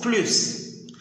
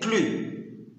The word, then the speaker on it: plus: Lorsque le mot « plus » n'est pas accompagné du mot de négation « ne » ou bien « n » apostrophe, il se prononce « plus ». Lorsqu'il est accompagné du mot de négation « ne » ou bien « n » apostrophe, il va se prononcer « plus ».